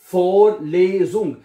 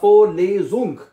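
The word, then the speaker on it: Vorlesung: फोरलेज़ुंग, इसकी प्रोनाउंसिएशन इस तरह आसान है, आप ये बात अंडरस्टैंड कर लीजिए कि इसका एक एक लफ्ज प्रोनाउंस होगा। FOLEE होगा, फोरलेज़ुंग। ठीक है, एक एक हिस्सा का लफ्ज प्रोनाउंस होता है, इसलिए आपको स्पेलिंग करने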